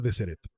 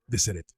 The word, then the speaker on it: Deseret: O sea, su plan original para Deseret era bastante grande y no se pronuncia de Sereret, se pronuncia de Sereret.